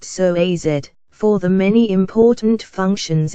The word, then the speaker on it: psoas: It's often called the mighty psoas, pronounced psoas, for the many important functions it plays in the movement of your body.